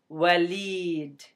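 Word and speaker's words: وليد: And this kasra under the L tells you that you need to pronounce this L as a li sound. But sometimes they don't even put that little kasra for you. And when you become more familiar with Arabic, you will automatically know that this word is pronounced as walid. Walid.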